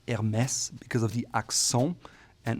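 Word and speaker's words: Hermès: By the way, it's pronounced Hermes because of the accon and not Hermes or anything else.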